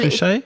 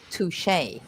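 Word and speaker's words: touché: Well, Touche? the thing is, it looks, you'll see that word in English, and it looks like touch, but you shouldn't pronounce it as touch. You have to say touche.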